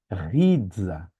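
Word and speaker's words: ῥίζα: Tem som de R, apesar de parecer um P. Rizza.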